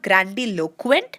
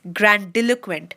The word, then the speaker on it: grandiloquent: this here it's not grandiloquent it's grandiloquent so the stress is coming on the dill part of it okay so grandiloquent not